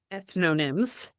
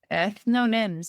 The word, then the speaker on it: ethnonyms: Ethnonyms. Ethnonyms.